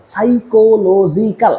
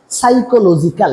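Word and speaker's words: psychological: যা হয়তো পরিণমে ক্রিয়েট সৃষ্টি করতে পারে সাইকোলজিকাল সাইকোলজিক্যাল আমি উচ্চারণটা আবার করতেছি সাইকোলজিক্যাল এখানে পির উচ্চারণটা উজ্য থাকে শুরুতে পি উজ্য থাকে ঠিক যেমন শুরুতে এখানে মাঝখানে বির উচ্চারণটা উজ্য ছিল।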